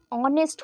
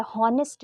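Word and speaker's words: honest: यही तो गलती है ऑनेस्ट अ होता है एच इज़ साइलेंट ये ऑनेस्ट होता है हॉनेस्ट नहीं होता है तो अगर ऑनेस्ट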